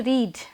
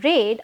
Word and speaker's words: read: last night don't say read okay because that is past action spelling is same but the pronunciation is different yes last night I read a few pages You